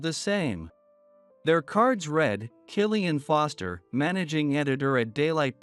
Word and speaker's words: Killian: her hurriedly did the same their cards read Killian Foster managing editor at daylight press and Katherine